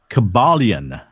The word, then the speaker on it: Kybalion: Can you pronounce that? Kabbalah. Yes, I can pronounce that. No, Kybalion. Kybalion. Okay, Kybalion. Now that's I suppose that means things of or related to the Kabbalah?